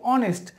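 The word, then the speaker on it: honest: কিন্তু আপনি যদি রিয়েল উচ্চারণ করেন, রিয়েল উচ্চারণ হচ্ছে কি অনেস্ট, তাহলে কি হচ্ছে এখানে এইচ থেকে উচ্চারণ না হয়ে ও থেকে উচ্চারণ হচ্ছে, আর ও ডিরেক্টলি চোখে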